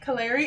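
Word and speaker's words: Kalere: names are beautiful um it's like k-a-l-e-r-e Canary it means short woman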